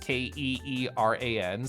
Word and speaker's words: Kieran: So the front just says Kieran, like Keeran, so I never have to think about it.